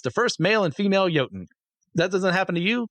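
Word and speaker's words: jötunn: progenitor of all Giants also known as yoten or joton depending on who's pronouncing it I'm going to say yoten because that's one I'm familiar with as he slept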